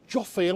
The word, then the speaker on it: Jophiel: We've got the angel Jophiel, is that how you pronounce it?